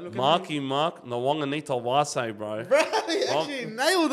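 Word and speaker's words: Nawaqanitawase: So it's Nawong You know, Sisawana? Nawong. Yeah. Anita. Anita. Wase. Wase, yeah. Nawong, Anita, Wase.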